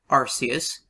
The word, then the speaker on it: Arceus: you may think that RCS or however you pronounce this name although I pronounce it Arceus um created the universe